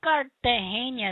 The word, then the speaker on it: Cartagena: You have to say it like they say it. Cartagena.